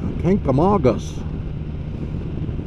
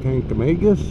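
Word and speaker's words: Kancamagus: right and going up to the kankamangas and kankamagas yes the way you're supposed to see it it's not tank to magus it's not pink the mangas which so many reported uh pronounce it tank amalgas but then ride down come home and well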